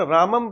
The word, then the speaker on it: राम: राम शब्द है तो उसका उच्चारण रामम, तो ये संस्कृत का शब्द है।